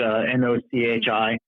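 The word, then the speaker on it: NOCHI: Not not the the pasta, not the dumpling, but NOCI.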